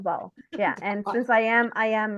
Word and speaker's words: Taobao: Taobao. Taobao. Taobao.